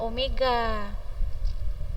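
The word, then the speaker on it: ω: kecepatan linier kecepatan sudut W seperti huruf v Tapi bacanya Omega atau siapa yang bisa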